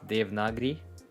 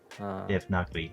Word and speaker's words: Devanagari: using Devanagari always. Am I saying that right? I feel like I keep saying it the wrong way. It's like the correct pronunciation is Devanagari. Devanagari.